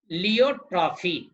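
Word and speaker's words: pleiotropy: अब है लियोट्रॉफी, P silent इसमें है, लियोट्रॉफी।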